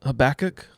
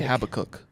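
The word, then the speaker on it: Habakkuk: Habach. Yes, that's how you say it. I always say Habacook and I always get told that that's wrong.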